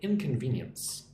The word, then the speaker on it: inconvenience: Look at inconvenience. Inconvenience. Inconvenience. Emphasis on ven.